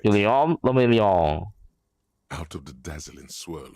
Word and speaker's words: Guillaume Lamillion: Guillaume Lamillion. Guillaume If it Lamillion. doesn't rhyme, you're not pronouncing it right. Guillaume Lamillion.